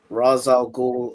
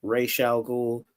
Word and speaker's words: Ra's al Ghul: it, we go to a straight up villain, Ra's al Ghul, or some people say Ra's al Ghul.